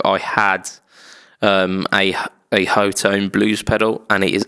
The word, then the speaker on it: Hotone: Um so uh the first of those uh the company Hotone Hot Tone I think they they pronounce it hot tone but it's it's got um H O T O N E.